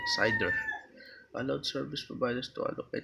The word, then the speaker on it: CIDR: Classless interdomain routing CID are pronounced CIDR.